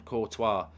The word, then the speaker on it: Courtois: just want to add you don't pronounce the S on courtois last name thank you very much